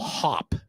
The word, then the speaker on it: Haup: Yeah, and so, but it's funny because it's rented through an app called Hop. Like, in other words, like you hop. It's spelled HAUP, and it's got these